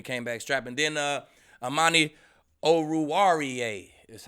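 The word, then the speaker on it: Amani Oruwariye: do man he came back strapping then uh amani oh ruariya that's how you say it man you're gonna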